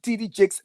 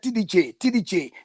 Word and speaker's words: TD Jakes: is not TD jakes you couldn't even pronounce the word TD jakes properly you said t DJ t DG no there's nothing to